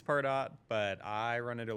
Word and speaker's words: Pardot: to pronounce that, because half the company called it Pardot and half of them called it Pardo. So, I still am not sure which one is correct. I think it's Pardot.